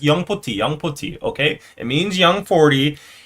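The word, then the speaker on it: 영포티: 40 means young 40, but in Korean, you gotta pronounce it as young poti, because that's the Korean pronunciation. So the right way to say it is young poti, okay?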